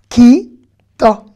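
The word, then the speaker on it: כיתה: Ki ta. Ki ta. Et le he ne se prononce pas comme tik va d'ailleurs.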